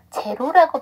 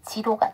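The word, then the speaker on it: zero: 됩니다 자 그 다음에 이거 제로라고 발음하시는 경우가 있는데 여기서이 사운드는이 발음이에요 그래서 지로가 돼야 됩니다 마지막 문장 콜드담의 유적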